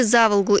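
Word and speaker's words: Заволгу: многие коренные самарцы полюбили за волгу именно так с ударением на первый слог и в одно слово называют все то что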